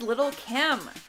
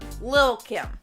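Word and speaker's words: Lil' Kim: next number nine is little kim or lil kim i feel like that is the proper way to say it what happened was danielle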